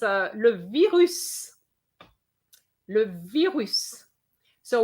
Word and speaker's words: virus: uh le virus le virus so we are going to pronounce the s whereas at veru we're